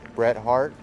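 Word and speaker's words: Bret Harte: from 1880 so that's how you say it Bret Hart but we're going to go take a gander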